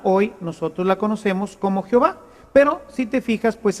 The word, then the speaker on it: Jehová: jahova con la y se fue transformando en una j y de ahí tenemos a ahora la palabra Jehová esta palabra representa lo